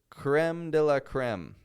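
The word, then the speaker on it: crème de la crème: That's how Americans say it. And I know any French listeners that I have are grinding their teeth and clenching their fists hearing me say it like that. Creme de la creme. It's the creme de la creme. That's what we Americans say. Sorry, it's not as fancy as the French way, but it's what we do.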